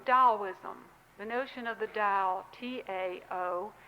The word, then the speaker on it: Tao: And my third example is really from Taoism, the notion of the Tao, T-A-O, although it's pronounced as though it's D-O-W.